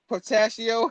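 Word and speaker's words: Portacio: Portaccio.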